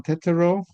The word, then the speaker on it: Tetteroo: Okay, so my name um pronounced Tetto actually. So, Tettoro and um I'm originally from the Netherlands, moved